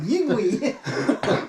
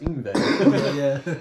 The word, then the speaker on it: Yngwie: And I was like, Yingwie. Yeah, and then I remember my teacher, he corrected me. He's like, I think it's pronounced Yngwie.